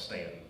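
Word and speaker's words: Staunton: We all know how to pronounce Stan, right?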